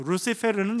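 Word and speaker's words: Lucifero: 그래서 루시페르는 이제 이탈리아식 발음이고 이제 영어식 발음 루시퍼가 됩니다.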